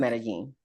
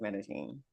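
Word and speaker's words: Medellín: My, what I'll is spell it? it for you. I don't know. Medellin. Oh, Medellin. Uh-huh. IN. Uh-huh. It's the I with the Oh, accent over it. So it's pronounced okay. Medellin or Medellin.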